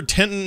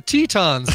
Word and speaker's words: Teton: Bridger Tenton National Forest officials recently exploded a full-grown bull moose. Whose final... It's the Tetons, man. You pronounce it Teton. What'd I say? Grand... Tetton?